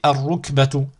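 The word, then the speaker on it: الركبة: Ici, ar-rukbatu. Ainsi de suite. Je ne prononce surtout pas le lam.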